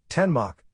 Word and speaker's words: Danmark: Denmark Danish Denmark pronounced ten Mach listen officially the Kingdom